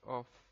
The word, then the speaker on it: of: pronunciación de esta palabra en no es of of con f se escribe con dos fs en inglés of Esta es más como una of como el sonido de una V corta al final si quieren pueden buscarla